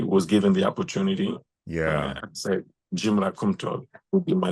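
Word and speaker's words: Djimra: my middle name Jim DJ i m r a so the D in this context is silent when you speak English JRA JRA last name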